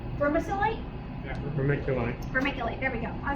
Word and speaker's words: vermiculite: Vermiculite.